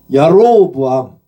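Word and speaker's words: יָרָבְעָם: 야로보암. 여기는 이제 하텝이 있으니까 이게 오로 발음을 해서 야로보암.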